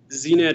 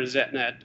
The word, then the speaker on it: ZNet: zenetlabs and yourself um znet or zetnet however you want to pronounce it is just recently founded